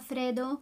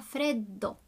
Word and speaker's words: freddo: Fa freddo. Make sure you pronounce those double D's. So not fa freddo, fa freddo.